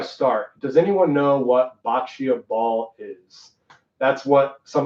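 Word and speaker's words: boccia: does anyone know what bacio ball is that's what some of the main topic is going to be on today bacio ball you may be thinking why is he pronouncing bocce ball that way well I'm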